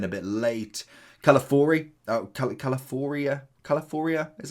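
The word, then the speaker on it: Calafiori: he came in a bit late calfor caloria Califoria is how you pronounce his name but regardless 98 very very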